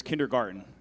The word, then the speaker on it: kindergarten: Your word is kindergarten. It could also be pronounced kindergarten. Kindergarten.